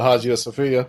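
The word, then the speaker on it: Hagia Sophia: uh Istanbul you're the Haj of Sophia yeah but you're not supposed to pronounce the h and I can't remember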